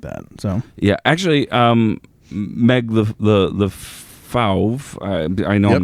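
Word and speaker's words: LeFauve: So yeah, actually, Meg the Fauve, I know I'm not pronouncing that right.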